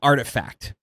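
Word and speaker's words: RTFKT: NFT sneaker company called Artifact. It's spelled like RT. There's no vowels. No vowels in there, right?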